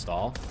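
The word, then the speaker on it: Staal: Cannot believe you knew it pronounced stall.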